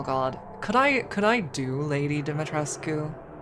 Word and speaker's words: Dimitrescu: But, oh god, could I do Lady Dimitrescu? Domitrescu, as she pronounces it.